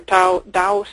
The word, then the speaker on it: Taos: So here's one here near Taos. That's how you pronounce that, New Mexico.